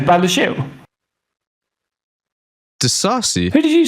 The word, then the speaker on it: Disasi: Disasi? Who did you say? Axel Disasi.